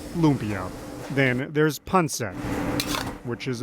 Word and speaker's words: lumpia: put up pictures because i don't know what a lapia is and i'm like well it's lumpia and yeah we can